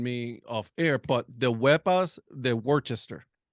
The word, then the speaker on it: Wepa: When you say us Hispanic, when you say hi or something like that, it's like Wepa, right? Yeah. So you say it like that, like with umph on it.